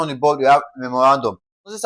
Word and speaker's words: memorandum: So, for memorandum, we're having memorandum. That is we lay emphasis on the r a n, okay?